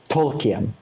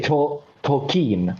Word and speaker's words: Tolkien: I just know, all I know that is that you do not say Tolkien. You say Tolkien. So or something like this. Why it's not Tolkien? Because that's not how we pronounce it. It's Tolkien.